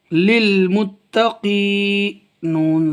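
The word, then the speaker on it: للمتقين: گے سانس لیں گے۔ اصل میں یہ تھا نون کو جب ہم اس سے ملا دیں، اگر ہم یہاں نہیں رکیں گے آیت نہیں کریں گے تو پھر ہجے اس طرح کریں گے، نون لام زبر نل، للمتقین، نل ہو جائے گا، للمتقین جب ملا کے پڑھیں گے، لیکن ہم نے کہہ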